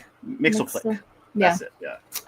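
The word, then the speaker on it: Mxyzptlk: Nixflick. Mixelick. Mixflick.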